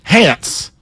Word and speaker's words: Hance: It is not spelled like pants. It is Hance. Hance.